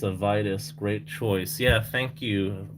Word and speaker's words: Vitus: It's pronounced Wheatus, like the band Wheatus.